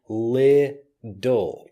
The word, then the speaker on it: little: this word I'm using little so the T becomes more of a D sound and it doesn't matter